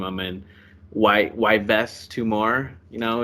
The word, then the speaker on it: Yves: I mean, Yves Tumor. You know, you would have known that it's silent. It's Yves Tumor. Yeah, Yves.